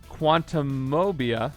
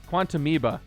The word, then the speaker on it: Quantumoeba: Quantumania, Quantumobia. Nope, Quantumoeba. That's how you say it, because it's like an amoeba.